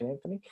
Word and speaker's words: Anthony: disappointing or Anthony Milford as they call him here next year in the World Cup and never pronounce the H Anthony but yeah very very